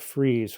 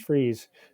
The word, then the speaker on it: Fries: is the town of freeze which is spelled like fries like french fries but pronounced freeze um freeze was a